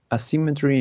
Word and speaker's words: asymmetry: The sentence is asymmetry in buildings looks horrible. Okay. And the stress is in the second syllable.